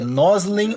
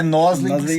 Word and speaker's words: Noslen: eu perguntei para ele, a pronúncia correta é noslin ou ele já me disse assim, bom, não é nolin.